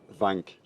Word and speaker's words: Wank: getting used to, but they pronounce it Wank with a V, not with a W.